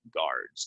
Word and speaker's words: guards: ton um and guards so this U is is kind of Silent guards guards a flood destroyed